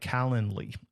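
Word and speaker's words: Calendly: Then you can get up uh set up a tool like Calendarly. It's like calendar, but not Calendar. It's calendarly.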